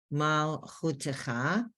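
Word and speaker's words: מַלְכוּתְךָ: But we know mal is the first, that shva is silent, and chutecha, that shva has a sound of I, as in if. Mal chutecha.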